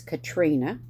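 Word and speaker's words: Caitriona: c-a-i-t was Kate and c-a-i-t-r-i-o-n-a was Katrina akali which I would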